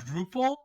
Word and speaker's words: Drupal: Drupal? Is that how it's pronounced?